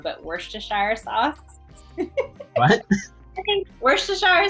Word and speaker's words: Worcestershire: Worcestershire. See, I didn't even say it right. Worcestershire. Worcestershire. I said it wrong the first time.